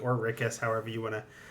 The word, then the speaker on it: Rikus: always pronounce it as rickus because to me my mind is like oh it's like eric but without the e and add this so